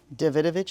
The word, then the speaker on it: Davidovich: Davidovich is how you say it, yeah.